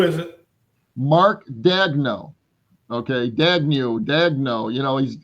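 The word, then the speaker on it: Daigneault: Dagnu. Dagno. You know, he's it's got a weird spelling, but it's it's pronounced Dagno.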